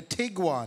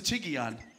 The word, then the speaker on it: Tiguan: dropped a big one a tiguan i don't think so it's a tiggy ann you're balax he always